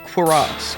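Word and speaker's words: cuirass: According to Google, it's pronounced Quiraz.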